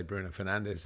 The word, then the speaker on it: Bruno Fernandes: Bruno Fernandes, which we don't say, of course, and we say Bruno Fernandes, and all the commentators